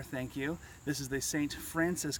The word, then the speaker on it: St. Francois: you this is the st. Francis campground as its pronounced here in Missouri however the spelling of it is st. Francois just to made that specific